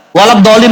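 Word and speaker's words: ولا الضالين: Waladolin ada dot ada pakai L. Waladolin ya amin amin jadinya. Iya. Bukan amin gitu.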